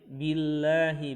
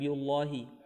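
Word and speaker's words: بالله: Kemudian billahi, bukan biullahi.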